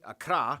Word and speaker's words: Accra: waffle and tamale and of course the capital Accra yes that's how you pronounce it Accra located in the southeast along the coast institutional